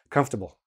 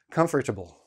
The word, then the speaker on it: comfortable: I'm not going to go through them, but listen to how I say it in regular speech, comfortable. I don't pronounce the R. I barely pronounce table.